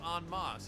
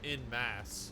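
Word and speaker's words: en masse: right i always thought it was pronounced on moss it's french like on pizzant or on guard but i guess like the english version is in mass so you're not technically wrong if you say it like that let's not get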